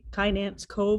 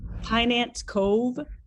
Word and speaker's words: Kynance Cove: This is the Kynance Cove, I think it's the way it's pronounced. Let me see if I can show you a little bit. Quite large. what's the name again? Sorry. Kynance Cove.